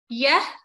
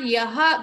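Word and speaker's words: यः: So when visarga is coming before the ka or kha, we have to pronounce it as half. Like yah. It is not yaha. We don't pronounce it completely, although it is not wrong to do so.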